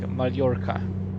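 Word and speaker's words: Mallorca: I'm fly certain the the Double L is produced is pronounced as like yeah because someone told me that for example Mala is like malorca likea yeah and we can do only if it's a single L it's an L like anel yeah just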